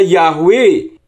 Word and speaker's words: Yahweh: karena dari huruf Ibrani Yod he wau he dan membacanya yahwe dengan huruf he yang ditransliterasi ha Tidak kedengaran misalkan ada huruf mandarin